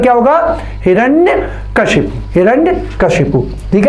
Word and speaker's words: हिरण्यकशिपु: और इसका उच्चारण क्या होगा, हिरण्यकशिपु।